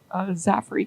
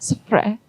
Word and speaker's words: Zaffre: But her name is not Zaffre. Do not pronounce it French. Her name is Zaffre.